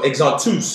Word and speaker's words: Exantus: So Exantus is how you say it in Creole.